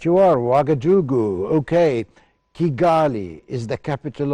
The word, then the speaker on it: Ouagadougou: I hope I can pronounce this right. It's Ouagadougou. Right you are, Ouagadougou.